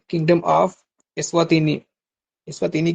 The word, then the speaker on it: Eswatini: इस्वातिनी की spelling आप note कर लें, ESWATINI, इस्वातिनी, ठीक है।